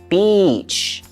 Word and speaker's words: beach: So the best way to pronounce this word is to make sure you let that vowel sound come out. A vowel is A-E-I-O-U. In this situation, it's the E sound, beach.